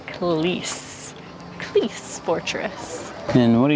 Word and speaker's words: Klis: the second century BC well I have been saying it wrong the whole time it is kalis please Fortress and what